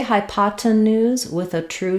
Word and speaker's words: hypotenuse: this with an a IP new or ooze hypotenuse um sound at the end so the hypotenuse